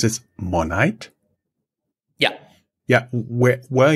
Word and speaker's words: Monite: being available in different markets where is you pronounce it monite yeah yeah where where are you guys available